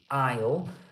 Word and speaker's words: aisle: the is l e the s is completely silent so it's it's we say ale um but for example